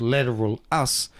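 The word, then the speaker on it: Lateralus: Did you know if you take the album lateralis which is supposed to be pronounced lateral us and you reorder it using the Fibonacci sequence you'll get the actual album.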